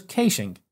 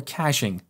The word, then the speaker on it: caching: another approach is to use caching as we call it here in Australia or caching as is pronounced in the United States so with caching we